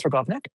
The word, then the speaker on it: Targownik: The question is it's it's it's a challenging Slavic name, but it or it looks more challenging than it is, but um technically it's Trovnik.